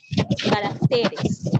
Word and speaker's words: caracteres: Ahora, cuando esta palabra la cambio al plural, caracteres. En este caso está cambiando la posición del acento y ya no lleva tilde porque es palabra grave y termina en S.